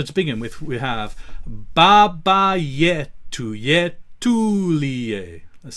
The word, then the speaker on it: Baba Yetu: So to begin with, we have Baba Yetu Yetulie. Let's say that. Baba Yetu Yetulie. And generally, our rules with the pronunciation is that the penultimate syllable is going to have the weight.